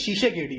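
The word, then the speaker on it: Tshisekedi: ठीक है, फेलिक्स शीशेकेडी, अब फिर देखिए कोशिश हमारा है प्रोनाउंसिएशन अच्छा करने का, फेलिक्स शीशेकेडी। अच्छा, फेलिक्स शीशेकेडी, हाँ ये सही है, यही होगा प्रोनाउंसिएशन।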